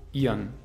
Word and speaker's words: ihren: Ihren, der Akkusativ wird zu ihren. Ihren.